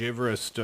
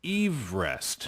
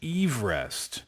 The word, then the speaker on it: Everest: So apparently it's Everest. Uh-huh. Eve, Adam and Eve 할 때 Eve rest. Right, so it's George Everest.